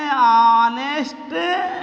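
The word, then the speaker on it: honest: यहाँ देखिए भैया, ऐन ऑनेस्ट मैन, ऐन ऑनेस्ट मैन, यहाँ भैया यच हो गया साइलेंट, बचा का ओ एन ई एस टी हो गया ऑनेस्ट, ऐन ऑनेस्ट मैन।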